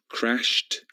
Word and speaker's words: crashed: Observed with a d sound, crashed with a t sound, and concluded with an id sound.